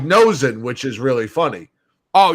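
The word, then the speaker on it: Noesen: But Nishin, I think is how you say his name. The way it's spelled, it looks like Nosen, which is really funny.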